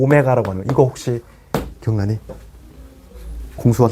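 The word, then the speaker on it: ω: 이거 오메가라고 읽어야 돼. w는 이게 이게 양옆이 좀 벌어지는 거고 오메가는 이렇게 오므려야 돼.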